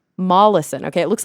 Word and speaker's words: Molaison: his name was actually Henry how do you pronounce his last name again Henry Mollison Mollison okay it looks like Meson Henry molison um